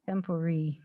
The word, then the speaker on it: Tempore: And I make a motion to the council to appoint Angie Petty as Mayor Pro Tempore. Is that how you say it? Tempore. Tempore. You can pronounce Okay. it different ways.